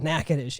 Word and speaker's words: Natchitoches: We call it Natchitoches, and you don't know how to spell that.